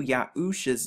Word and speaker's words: Yahusha: get arusha husha and if we just place the yard right here we get the y sound to get yahusha the name of joshua